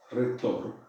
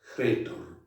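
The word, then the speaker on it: ῥήτωρ: Y entonces, ¿cómo se pronuncia? Retor, ¿ven? Retor, ¿ven? Como si, precedida por por este espíritu que le da como aspereza a la palabra, retor, ¿ven?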